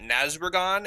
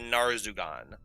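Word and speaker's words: Narzugon: He was turned into a fallen paladin, and it is actually called, you were pronouncing it Nazrugan. It's actually Narzugan. Oh, thanks. The R is before the Z, so I caught that one.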